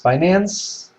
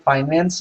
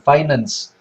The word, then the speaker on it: finance: Finance, by the way, sebelum saya mulai, finance itu di-pronounce-nya, cara kita ngomongnya finance, bukan finance. Di Indonesia banyak orang bilang finance, itu salah, itu finance, ya.